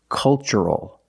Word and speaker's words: cultural: So the pronunciation? That's right, it's ch. The first word, culture. And the second word, cultural. Also remember the first syllable is a short U, like cup and up. Make a relaxed sound.